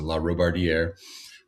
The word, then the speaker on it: Larobardiere: My name's Larobardiere. That one's always a mouthful for everybody, but it's pretty phonetic, just like it's spelled, except for when you get to the end. So Larobardiere.